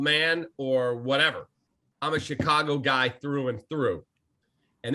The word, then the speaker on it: Chicago: they fired his ass i said exactly how i've said it my whole life i'm from chicago that's how we say it here and that's how i say it and then i remember